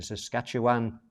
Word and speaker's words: Saskatchewan: Janine says I'm saying it right. That's Saskatoon in Saskatchewan.